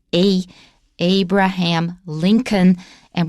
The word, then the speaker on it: Lincoln: that it's a abraham lincoln and we don't pronounce the l oh now abraham not